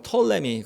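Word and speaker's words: Ptolemy: 프톨레마이오스 혹은 프톨레미 뭐 영어 표현으로 많이 발음으로 털의 밍이 그냥 피가 묵음 이니까 frm ios 왕조 줘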